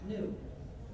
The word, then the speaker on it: gnu: in countless wordplays because according to the dictionary the g is silent and it's pronounced new so every time you